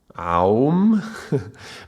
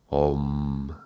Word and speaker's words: Om: would be pronounced as a O, like a long vowel O. It's called a monophthong. It would be. With a long vowel, and it is written like this, O with 2 dots. Yeah. So it would not be chanted Aum, but it would be chanted Om.